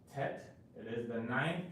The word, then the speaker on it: Tet: And the letter Tet is pronounced Tet.